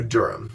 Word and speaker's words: Durham: Then day 4, we wake up and we get on another train and we go to Durham. Durham is where we met a friend of Michael's named Peter.